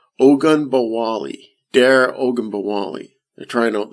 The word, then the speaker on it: Ogunbowale: Ogunbowale.